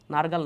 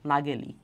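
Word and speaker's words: Nägeli: সর্বপ্রথম ক্রোমোজোম প্রত্যক্ষ করেন কার্ল নারগাল না নাগেলি? কারল নাগেলি আচ্ছা ইংলিশটা যদি বলে দিই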